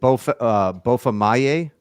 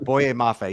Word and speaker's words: Boye Mafe: Is it Bofa Maye? Is that how you pronounce his name? Boye. Boye. Oh, Boye sorry. Mafe. You had the Y. I have it right here in my prep. Boye Mafe.